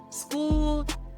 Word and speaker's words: Skool: School is a platform that is either online or you can get the School app. School is spelled SKOOL.